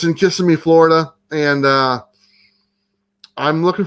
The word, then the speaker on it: Kissimmee: i pronounced it right i've been told i pronounced it wrong i don't know it doesn't matter just it sounds like kissing me so i'm just gonna say it but it's in kissimmee florida and uh i'm